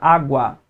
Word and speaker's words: água: 2 sílabas, consequentemente 2 vogais. Sendo que na segunda sílaba eu tenho 2 aparentes vogais aqui. Só que, qual das duas é mais fortemente pronunciada? O U ou A? O A.